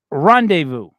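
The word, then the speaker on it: rendezvous: uh Mandy that's one for you all right pronounce that one horribly it's not English also not English uh R rendevu I got that right right yes right we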